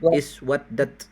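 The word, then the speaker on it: اسودّت: Uswadat iswaddat membacanya iswaddat. Iswadat apa nih?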